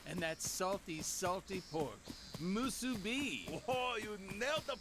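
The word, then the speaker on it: musubi: of seaweed rice and that salty salty pork musu be oh you nailed the pronunciation brother if you can call it pork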